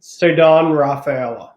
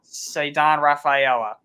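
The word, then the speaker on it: Ceddanne Rafaela: How do you pronounce his name? Ceddane Rafaela. Ceddane Rafaela.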